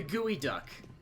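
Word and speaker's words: geoduck: of them and they're all weird like the gooey duck which yes that is actually how it's pronounced which is massive and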